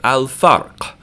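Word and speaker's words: الفرق: So fa is pronounced with your lips, even though it's pronounced up in the front of your mouth. So we're going to say al-farq, like that. We're going to hear the lam in alif lam because we used our lips.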